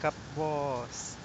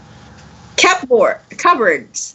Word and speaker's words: cupboard: What is happening with cup boss? cupboards. So no, I'm just going to ask you. You understand what cupboard? That's the pronunciation. Cup boss. It's cupboard.